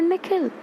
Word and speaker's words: Nikhil: The way the principal pronounces his new name is different from the way his parents say it, the second part of it longer, sounding like he.